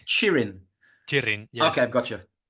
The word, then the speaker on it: Txirrin: T X T X I double R I N and it's pronounced Txirrind.